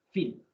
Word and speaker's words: Phil: se pronuncia al fin como si fuera una efe fin entre phil y café